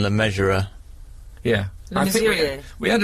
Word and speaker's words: Le Mesurier: Well, I think they pronounce it how you pronounce it, like John Le Measurer.